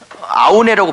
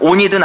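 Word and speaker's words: Aune: 그러면 말 나온 김에 같은 WBC 중에서 계시록을 썼던 어떤 사람은 온이라고 읽기도 하고 대부분 책은 아오네라고 번역하기도 하고 온이라고 읽기도 하고 아오네라고 읽기도 했던 이 사람, 온이든 아오네든 이 WBC의 책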